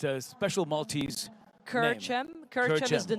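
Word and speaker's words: Kerċem: And pronounce the name of that winning team from last year. It's a special Maltese Kerchem.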